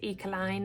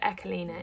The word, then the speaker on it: Ecoline: However, I have been told by lots of people that it's not pronounced Ecoline. That's how kind of British people tend to pronounce it. But Echelina is the traditional way of pronouncing it.